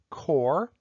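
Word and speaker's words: coir: is something called core even though it's spelled c-o-i-r it's pronounced core and it comes from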